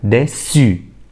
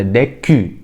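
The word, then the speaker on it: déçu: اللي بعديها ديسو. ما ينفعش اقولها ديكو، خطأ. ديسو.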